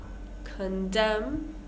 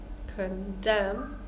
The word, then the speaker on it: condemn: word condemn right so the stress is on the second part condem him solemn one more time Autumn column condemn condemn him solemn excellent the